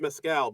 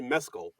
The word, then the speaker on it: Mescal: uh Paul I thought his last name was pronounced Mescal but it's actually Mescal because like he pronounced it Mescal when he